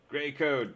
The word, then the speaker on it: Gray code: starts with a g it rhymes with rey gray code perfect first try um